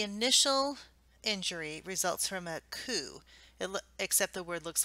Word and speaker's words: coup: injury results from a coup it except the word looks like coupe on your side's but the P is actually silent so it's public coup